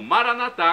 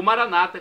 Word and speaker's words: Maranatá: E agora do aramaico eu clamo Maranatá com a tônica na última sílaba, como dizemos nós católicos. Ou Maranata com a tônica na penúltima sílaba, como dizem nossos irmãos separados, os evangélicos ou protestantes.